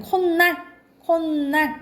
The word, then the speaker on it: 콧날: 내까라든가 아니면 콧날 니은 소리 나죠? 니은 소리가 나죠?